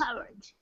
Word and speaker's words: courage: Yes. Courage, the first. Courage. Again with the schwa sound.